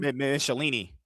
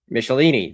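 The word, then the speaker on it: Michelinie: do you say his name Michel Michelin Michelini Michelini that's it uh which I need to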